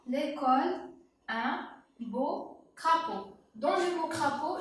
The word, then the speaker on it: beau: Beau, on n'a pas le O. D'ailleurs, le mot beau contient une seule syllabe. Beau, il y a une seule syllabe. Une seule. On a le E, A, U.